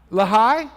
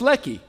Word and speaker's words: Lehi: h how do you think it would be pronounced what Lehi Lehi well you're close Lei well it's Ley you were closed on Good shot now there's